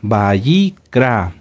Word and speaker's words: Vayikra: de kilo r a bicra bicra lleva acento en la a en la última A bicra qué libro es